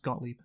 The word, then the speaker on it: Gottlieb: It's pronounced Gottlieb.